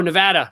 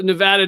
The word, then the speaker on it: Nevada: Nevada? Yeah. No, Nevada.